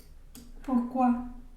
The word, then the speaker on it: pourquoi: Pero fíjense que pourquoi tiene exactamente los dos sonidos que vimos, ¿no? Pertenecen a esas dos familias de palabras. Tiene, aquí está, tanto la OU, que sería U, pour, pronunciando la R, pour, y OI, ¿ne? Quoi, pourquoi. Solo que aquí básicamente hay dos U, ¿no? Entonces pronunciamos solo una. Pourquoi.